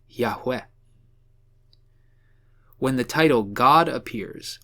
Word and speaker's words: Yahweh: by the Hebrew consonants YHWH, and most likely pronounced Yahweh.